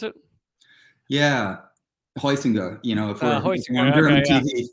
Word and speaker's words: Heusinger: But so talk about Adolf Husinger. Is that how you pronounce it? Yeah, Heusinger.